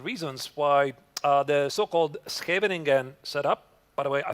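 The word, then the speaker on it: Scheveningen: No, no, no. It's not Shvingan. It's Havening.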